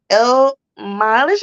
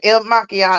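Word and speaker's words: Il Makiage: I will put on my concealer, Il Mileage, I think it's pronounced. Oh, maquillage. Yeah, Yeah. maquillage. Okay, pronounce it. Il Maquillage.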